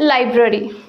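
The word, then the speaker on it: library: Next है लाइब्रेरी। क्या बोलते हैं जनरली? हम लाइब्रेरी जा रहे हैं या हमें लाइब्रेरी जाना है, तो इसे कैसे प्रोनाउंस करना है? इसे प्रोनाउंस करेंगे लाइब्ररी, लाइब्रेरी, नॉट लाइब्रेरी, इट्स लाइब्रेरी।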